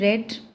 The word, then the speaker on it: read: ठीक है, spelling रेड READ होगी, लेकिन रीड कैसे करेंगे इसको, हम बोलेंगे कैसे, प्रोनाउंस कैसे करेंगे, रेड.